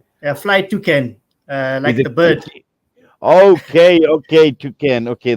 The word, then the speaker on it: Toucan: Murad assalamu alaikum welcome foreign how do I pronounce it t-o-u-c-a-n a flight to Ken uh okay okay toucan okay there we go